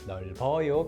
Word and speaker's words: 넓어요: On its own, it sounds like 널 because you can't carry that 비읍 over because there's no vehicle. But when it's written like this, 넓어요, 널, and and 요, you can read it like 넓어요 because there's a vehicle that carries the 비읍 over to the next syllable.